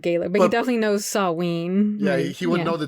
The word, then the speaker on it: Samhain: Samhain? Samhain, but it's spelled Samhain. But it's Gaelic, which I don't know how to read Gaelic. Yeah, so it's pronounced Samhain.